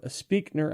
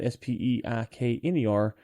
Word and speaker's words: Spreaker: This is from Speakner, I think is how you say that, Speikner.